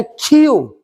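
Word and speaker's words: queue: यह है क्यू। क्यू, क्यू का मतलब होता है पंक्ति। अब देखो ना, इसको हम प्रोनाउंसिएशन के रूप में अगर लेते हैं तो इसको हम लोग क्या पढ़ते हैं?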